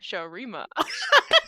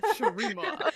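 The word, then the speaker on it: Shurima: Oh, Sharima. Ha, Sharima. I told her if she had trouble with pronunciation that she should just start quoting that and do the ha Sharima because it'll help her.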